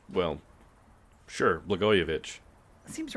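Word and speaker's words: Blagojević: So in 1725, in Serbia, a man named Peter Blagojevich, I think I'm pronouncing his name correctly. I could be screwing it up. But it's Blagojevich. Oh, well... Sure, Blagojevich.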